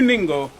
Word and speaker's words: Ningo: But we're actually in New Ningo, N-I-N-G-O. Rhymes with bingo with the N.